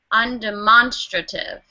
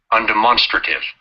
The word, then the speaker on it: undemonstrative: joining us and say it here on demonstrative undemonstrative one more time undemonstrative okay undemonstrative so that's how you pronounce it can everyone try that and I